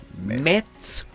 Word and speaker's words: metrology: is not meteorology is metology. It's a completely different spell.